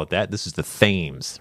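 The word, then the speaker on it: Thames: yes yeah the themes if you want to pronounce it like the local it is the themes River spell t h mes exactly the same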